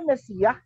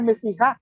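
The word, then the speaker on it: משיח: Kalau kita ke sana, kok itu di bawahnya patah tapi bacanya Mesiah, bukan Mesiha.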